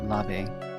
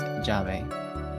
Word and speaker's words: llave: It's spelled with 2 L's at the beginning, but it's not pronounced lave. It's pronounced llave. It's pronounced like a J? Kinda, yeah. Your double L's can be pronounced like Y's and J's, and your J's can be pronounced like Y's and H's.